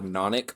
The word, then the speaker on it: nonic: Some people pronounce that it's the nonic or nonic, but I go technically nonic.